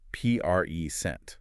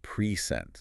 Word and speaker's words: present: But if I stress the second syllable, present. It's a verb, to give something. Exactly. The same letters, two different words, and the only difference is the stress.